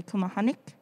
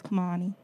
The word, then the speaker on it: Kumehani: wrong and they say kamahanik because of the k at the end but the k at the end is just for my last name but yeah so the